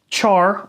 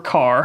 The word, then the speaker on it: char: false it's not maybe char or car however you want to pronounce this this will contain one